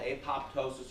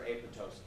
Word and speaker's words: apoptosis: So anytime you have the P in front of a T, a lot of times the P is silent. So there's a thing called ptosis, which is like a drooping of an eyelid, drooping of a foot. You don't pronounce the P. So here, it could be the exact same way.